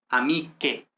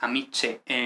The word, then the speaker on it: amiche: Entonces, vemos que la pronunciación siempre es ka, que, ga, ge, es decir, no es amiche, lunge, sino amique, lunge, pero la C y la G cambia a CH, GH, ¿vale?